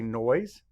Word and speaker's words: noise: Say noise. Map the sounds. Noise. Noise. And that S sort of makes a Z sound at the end of that word.